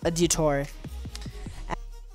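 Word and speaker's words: Adiutor: Store and download colonel a du tour so that's how it's pronounced a detour and once the download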